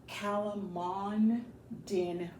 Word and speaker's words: calamondin: Let me get the correct pronunciation. Calamondin plant.